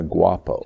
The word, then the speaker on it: Guapo: You call yourselves the Gato and the Guapo. Did I pronounce that right?